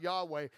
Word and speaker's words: Yahweh: when you talk about Yahweh it actually phonetically is the sound of breathing the sound of breathing